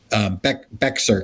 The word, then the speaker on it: Bexar: Atlanta or Dallas or Bexar County. I always mispronounce it. It's Bear County, baby. Bear County.